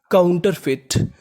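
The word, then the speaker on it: counterfeit: इतनी मीनिंग बनी काउंटर एफ ई आई टी इसे पढ़ेंगे फिट क्या पढ़ेंगे फिट यहां पर ई हमारा साइलेंट रहेगा आई का उच्चारण करना है तो मीनिंग बनी काउंटर फिट काउंटर फिट काउंटर फिट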